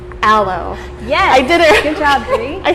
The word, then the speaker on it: aloe: me how to pronounce this one because I mispronounced it it's a low I did everything I said hello it she was like what hello that's what this is yeah an aloe vera mm-hmm and it's a very old plant